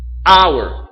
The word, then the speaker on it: hour: Hour, hora. A hour or an hour? An hour. Porque esse H é mudo.